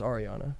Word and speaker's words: Ariana: Well, for it's pronounced Ariana.